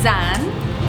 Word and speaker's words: Zan: My name is Zan. Zan, okay. Like Xanax, but not like Xanax.